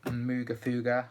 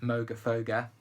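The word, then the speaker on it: Moogerfooger: just really intense uh next we've got the muga fuga or um Moga foga that I was corrected on last time even though I'm from the UK and we definitely pronounce it muga fuga uh the murf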